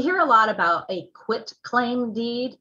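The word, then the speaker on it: quitclaim: a lot about a quit claim deed now that's q-u-i-t it's almost always pronounced to me as a quick claim deed q-u-i-c-k that is not the correct term i almost never ever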